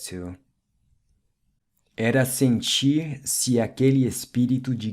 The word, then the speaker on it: espírito: Words ending in TO are pronounced with the U sound like espírito, oito, 8 or ocho in Spanish, and rato, mouse or ratón.